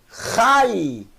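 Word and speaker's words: חי: E aqui eu tenho Yud, som de I. Então leia, por favor. Rai. Rai. Uma sílaba só.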